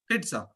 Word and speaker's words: pizza: will not go and say to someone Pizza it's a TA sound I showed it to